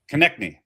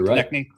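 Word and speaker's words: Konecny: And Travis Konechny, right? That's how you pronounce that? Konechny at +235.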